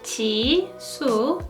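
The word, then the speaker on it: Jisoo: is Chi su Perseids name is Chi su in Korean t su and her birth name is Kim Chi su Kim Chi su her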